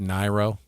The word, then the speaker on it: Niro: I think it's pronounced Niro. Mm-hmm. Is it a Niro? No, I'm just kidding. Niro? No, it's a Niro.